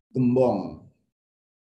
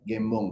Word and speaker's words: Gembong: salah sama orang-orang membacanya gem 10 padahal Nama saya ini Gembong tapi kalau orang Medan